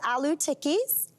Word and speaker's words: aloo tikki: So this is aloo tikkis. Aloo tikkis. Aloo tikki, perfect pronunciation.